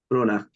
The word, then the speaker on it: Brona: It's Brona. The CH is silent. Brona.